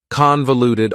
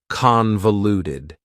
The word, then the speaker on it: convoluted: for you is convoluted convoluted also has four syllables and the stress is on the first syllable convoluted that second syllable again has that schah sound that reduced vowel sound uh convoluted convoluted if something